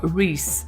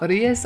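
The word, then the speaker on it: Ries: that I have four Reese sorry her name is Reese apparently and not arias I think my way is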